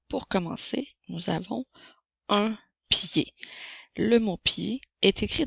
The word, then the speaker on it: pied: le mot pied s'écrit P i e d la lettre D est une lettre muette et le la lettre E fait le son et même s'il n'y a pas d'accent alors un pied comme